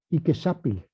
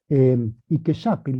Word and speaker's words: Iquexapil: El otro es Iquexapil, que lo traduce como perro de agua. Recuerdo que la X en español antiguo como México se pronuncia igual que la SH en inglés, ¿verdad? Iquexapil es perro de agua,